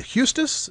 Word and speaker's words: Huestis: Is it Hustis? Is that a pronunciation? Yes.